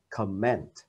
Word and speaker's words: comment: bình luận chẳng hạn, thì cái dấu nhấn nó đổi qua phần thứ hai gọi là đọc là comment. Khi đó là chữ ơ và chữ e. Đầu tiên là o và e, comment là danh từ, động từ là comment.